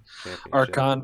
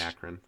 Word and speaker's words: Akron: close games in this one except for the archon versus Buffalo I was about to say buffalo I just said it right all right um and Akron yeah accurate what did I say harcon uh nope okay that team I can't